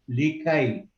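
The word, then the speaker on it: لكي: the ya has got a sukoon, so You don't pronounce it really, you do, right? you just touch it. So the word is likai.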